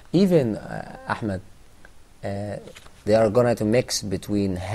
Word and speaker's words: Ahmed: name is Ahmed, so the second letter of my name is ha. Yeah. So when I was in the US, a lot of people actually was very confused about the pronunciation of my name. They were saying Ahmad. Can you see that? So they are making a mixture between ha and ha.